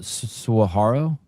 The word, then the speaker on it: saguaro: The How do you pronounce the word sa- saguaro?